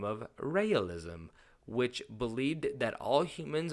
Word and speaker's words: Raelism: So some people pronounce it realism, but that gets confused. So it's like Raelism or, something along those lines. I could be pronouncing it incorrect, but I think I'm close enough. So in 1974, a man